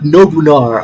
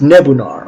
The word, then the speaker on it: Nebunar: A Nebunar, not Nobunar. Oh fuck! I thought like Nobunaga, but instead of Naga is Nar, but it's Nebunar.